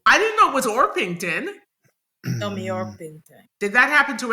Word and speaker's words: Orpington: I thought that Tommy's name was actually Tommy hington ah and because it's Coronation Street they just didn't pronounce the h and they put a slight R after the O I didn't know it was orpington oron did that happen to anybody else no